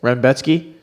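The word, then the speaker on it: Rębecki: Honestly, I am going to take Renbetsky. Close enough. I don't know. There's no N, but that's how it's pronounced.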